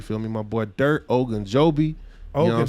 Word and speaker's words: Ogunjobi: Okay, so it's Ogunjobi.